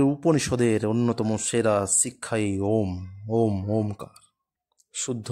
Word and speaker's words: ওম: ওম ওমকার, শুদ্ধ উচ্চারণ ওম।